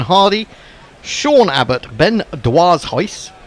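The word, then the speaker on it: Dwarshuis: sha Abott Ben DW heis I think that's how you say it deise apparently disis deise oh that's easier then D it's a lot easier I heard Mitch Marsh say his name Ben deise and then Adam Zamba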